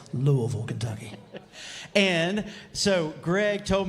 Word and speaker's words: Louisville: that I'm actually from Louisville if you say it that way you have to say it like you got a mouthful of marbles Louisville Kentucky and so Greg